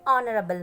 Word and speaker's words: honorable: honest it is honest because h is silent over here so my honorable minister of state so